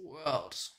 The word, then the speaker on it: _World: go last one is Worlds I think it's just pronounced world not underscore world but yeah let's check